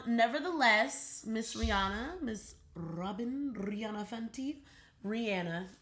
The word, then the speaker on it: Rihanna: Rihanna is actually the proper pronunciation, but nevertheless, she has officially launched, as of today, Fenty hair.